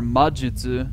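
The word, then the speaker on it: 魔術: what wait huh but if you just remember that this is the word for majutsu you'll be able to know that's Ma and that's Jutsu and you'll Solly figure it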